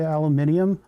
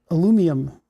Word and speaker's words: aluminium: The worst one is aluminum because they'll the Brits will come in here and tell me I need to say aluminum. They actually don't do that. It's usually the um the Scandinavians. Why do you say it like that? And it's because it was aluminium originally. And we're not adding consonants to things.